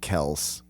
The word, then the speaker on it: Kelce: And then, like, the rest of the branches off of that pronounce it Kels.